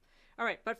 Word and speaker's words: but-: But for one carbon, that's "meth-," 2 carbons are "eth-," 3 is "prop-," 4 is "but-" (rhymes with cute), 5 is "pent-" (like